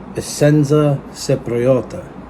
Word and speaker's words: Essenza Cipriota: Of course, it is pronounced Essenza Cipriota, and I believe it means in Italian.